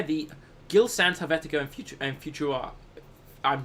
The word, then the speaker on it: Futura: I don't know how you pronounce that one. I would assume it's Futura. Yeah, Futura.